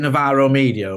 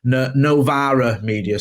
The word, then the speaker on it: Novara Media: So is it Navarro Media or Navarro? Forgive me, I should know this. Sorry. It's not. I think it is a sort of left leaning site, and they do quite a lot of pronunciation. Novara Media. Sorry, I was pronouncing it wrong.